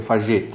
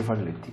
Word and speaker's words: Falletti: cioè, se fosse un cognome spagnolo sarebbe Fagetti, ma Esatto, siccome è sì. un cognome d'origine italiana si legge Falletti.